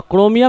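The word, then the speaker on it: chromium: लेकिन क्रोमियम है तो क्रोमियम में H साइलेंट होता है।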